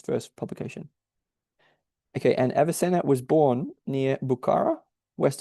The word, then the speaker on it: Avicenna: And so he says, thus begins his treatment of the visionary recitals of Avicenna, I'm not sure how to pronounce it, Avicenna, and Surawadi. It is Avicenna.